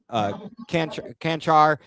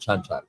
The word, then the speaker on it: Chanchar: It's Chanchar. Chanchar.